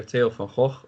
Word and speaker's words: Theo van Gogh: when the film director Taylor Howe or Theo van Gogh as you pronounce him was assassinated on I